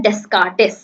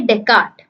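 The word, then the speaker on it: Descartes: था, अब नाम है डेस्कार्टिस। अब इसको पढ़ते कैसे हैं, इसको पढ़ेंगे डेकार्ट, ठीक है, इसको पढ़ेंगे डेकार्ट। एस साइलेंट है, आर और एंड वाला एस भी साइलेंट है।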